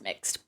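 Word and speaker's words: Mx: I think it's pronounced mixed or mixed, but like I only ever like read it I think I've only like I don't know.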